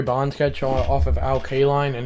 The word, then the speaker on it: Kaline: sketch off of Al Kaline? And it's I will like put like a star and be like Kaline not Kine.